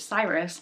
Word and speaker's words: Cyrus: Um, or Kurush, if you really want to go the Persian way. But we'll go with the American pronunciation of his name, which is Cyrus.